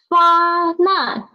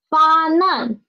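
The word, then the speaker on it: 发难: Not fa nan, it is not fan an, it is fa nan, okay?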